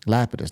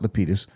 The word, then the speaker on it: Lapidus: It's Tony Lapidus. Lapidus, not Leitus.